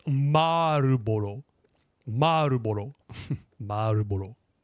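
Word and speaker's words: Marlboro: Marboro, which doesn't really sound like Marble at all, but whatever.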